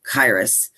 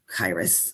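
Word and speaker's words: Kairos: This one in the middle, it's pronounced Chyros. Um, it's spelled like Chyros. K A I R O S, but it's pronounced Chyros.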